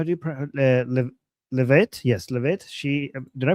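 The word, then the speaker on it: Leavitt: It's it's pronounced Levit. Levit.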